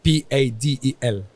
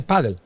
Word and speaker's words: padel: of paddle to paddle because we pronounce paddle in Spain we say padle we don't say padel or that there are